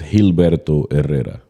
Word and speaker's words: Gilberto Herrera: So in Spanish, it's Gilberto Herrera.